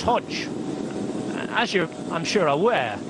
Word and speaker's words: Hodeg: as to why his name spelled hodik but pronounced Hodge as you I'm sure aware Hodge isn't a